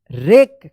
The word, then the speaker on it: wreck: WRECK, रेक, क्या पढ़ेंगे इसको?